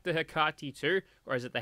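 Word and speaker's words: Hecate: of looks like the hakati too or is it the heck it it's uh some pronunciation if the if the anti-material rifle from new vegas was named after a greek goddess then it's hikarti but yeah it looks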